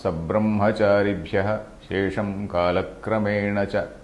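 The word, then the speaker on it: सब्रह्मचारिभ्यः: I read it as Sabrahmacharibhyah. Sabra also has to be pronounced Sabrahmacharibhyah Shesham Kalakramena cha. We have to read like that.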